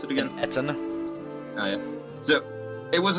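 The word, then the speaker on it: Ettin: How did Serenity pronounce it again? Etten.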